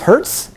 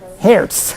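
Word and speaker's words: Hertz: per second anybody remember the two pronunciations of that word that was our it was hurts our hairs okay which is how i believe the Germans pronounce that okay so they probably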